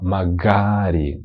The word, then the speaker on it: magari: Вимова магарі. Га. Наголос на другу букву А.